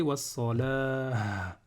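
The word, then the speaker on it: والصلاة: Donc ici, si je veux m'arrêter sur wassalati, je vais m'arrêter wassalah, avec un ha.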